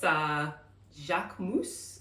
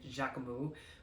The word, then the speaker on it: Jacquemus: I have this Jacquemus, I think is how he's pronouncing his name. I'm not really sure. I will normally just say Jacquemus, but I think it's Jacquemus. It's French brand, French designer.